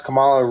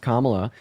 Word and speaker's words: Kamala: mean what what has Calo really done first of all her name is pronounced Kamala and then second of